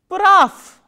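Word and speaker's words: прав: Next word we have is p, r, a, v. How will we pronounce this word? Praf. Why? Because v is again a voiced consonant which will be pronounced as its voiceless counterpart, which is f, praf.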